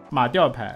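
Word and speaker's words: 马吊牌: 马吊牌四声哈，别读成三声，刚才打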